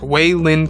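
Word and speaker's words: Waylin: the character's name is spelled way like w-a-y Lynn l-i-n Kenobi so it's like way Lin Kenobi uh it actually kind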